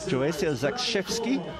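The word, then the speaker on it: Joasia Zakrzewski: correcting my pronunciation there joia zakki is apparently the correct pronunciation for her name and she runs for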